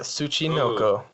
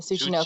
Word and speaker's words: Tsuchinoko: And the creature that we are talking about today is, who wants to do the honors of pronouncing it? The Tsuchinoko. Yes, the Tsuchinoko. Tsuchinoko.